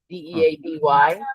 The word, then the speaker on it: Deady: It's spelled Deddy, but it's Dee Dee. Deady, Tom Wow.